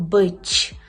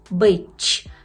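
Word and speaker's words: być: яке польською перекладається як бич бич з першого уроку ви вже знаєте що ц з рискою читається як ч бич бич І наприклад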